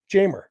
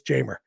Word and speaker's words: Jeimer: Jamer. Yeah, there used to be a guy named Reimer something, and Jamer is spelled the same way, but with the J instead of an R, but it's Jamer.